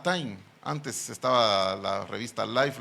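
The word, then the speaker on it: τιμή: el numeral 5092 y se pronuncia igual que aquella famosa revista que creo que todavía sigue, que se llama Time.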